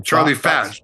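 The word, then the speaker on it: Charlie Fach: How do you say his name? Charlie Fash. Charlie Fash, F-A-C-H, Charlie Fash.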